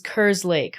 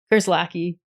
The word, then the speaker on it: Kerslake: it's said just like how it's spelled. Yeah. But nobody ever. Kerslake. Yeah. Kerslake. I would use that. It's fine. Wait, is it Kerslake or Kerslake?